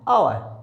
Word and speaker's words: hour: इसको बनाएंगे HOUR, हावर नहीं, आवर, आवर।